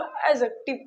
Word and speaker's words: adjective: इसको एडजेक्टिव नहीं बोलते हैं। मैंने क्या कहा, यहाँ पे जो डी होता है ये साइलेंट होता है। चल क्यों नहीं रहा, डी क्या होता है, साइलेंट। डी को हम नहीं पढ़ते, इसीलिए इसको एडजेक्टिव पढ़ते हैं।